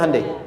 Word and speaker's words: Hyundai: Hyundai kan dibacanya Hande ya kan.